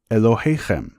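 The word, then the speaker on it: אלהיכם: The term in Hebrew for your God is pronounced Elohechem.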